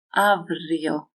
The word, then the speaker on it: αύριο: Αύριο, γεύμα. R, m make the vocal cords vibrate, so this is read as v.